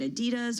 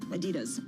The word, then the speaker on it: Adidas: Is it Adidas or Adidas, depending on how you pronounce it? Yep. I go with Run DMC's pronunciation, Adidas.